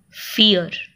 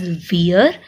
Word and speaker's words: vier: Fear. VIER. Many students pronounce it as veer, which is V, but this is not right because we pronounce it as fear of English.